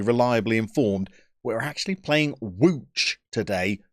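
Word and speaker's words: Łódź: am only partially reliably informed we're actually playing wooch today not lods i could be making a complete fall of myself with that pronunciation but i'm going to be using it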